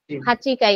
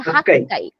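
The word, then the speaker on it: 八階: তারপরে যদি আমি আটলা বলি হাচাই হাচি হাচি হাচিকাই এখানে একটা এক্সেপশনাল উচ্চারণ আছে আমি বলব যে ওটা ফলো করলে একটু ভালো হয় ওটা হচ্ছে হাক্কাই হাক্কাই ঠিক আছে হাক্কাই তারপরে হচ্ছে আমি যদি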